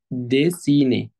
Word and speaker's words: dessiner: ديسيني، هنلاحظ ان حرف الاو هنا بيتنطق ايه، ليه بقى؟ علشان جاي بعديه اتنين كونسون اللي هم حرف الدبل اس. طالما الاو جاي بعديها اتنين كونسون يعني اتنين ساكنين، لازم يتنطق ايه، ديسيني، ودي معناها يرسم.